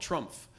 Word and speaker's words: Trumpf: We visited a company called Trumpf, which is not T-R-U-M-P-F. They always want me to pronounce the F.